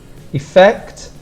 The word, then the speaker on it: effect: types of effect here effect the strong pronunciation is on the second sound effect and for the spelling